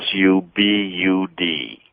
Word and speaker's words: Subud: they're often called a sect which is a Subud Su b u d that's how that's pronounced as well I've been Su sub like